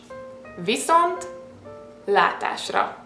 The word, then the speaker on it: Viszontlátásra: I'm suggesting you to try just kind of break it down. Viszont látásra. And once you're okay with pronouncing separately, then you can try to say all in one word.